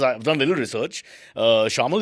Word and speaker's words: Shayamal: Well, he's desi looking, but he's, as far as I've done a little research, Shamal is the right way to say it? Correct. Absolutely correct.